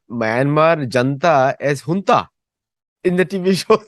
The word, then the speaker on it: junta: It is a Spanish word and it is pronounced junta.